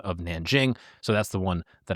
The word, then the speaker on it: Nanjing: We'll start off first with the city of Nanjing. Many people call it Nanking. That's the pronunciation that Americans in the English language speaking world used around 1937-38 when this atrocity happened.